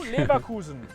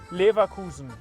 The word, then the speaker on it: Leverkusen: Then you will know Leverkusen. That is how you say it. Yeah. Leverkusen.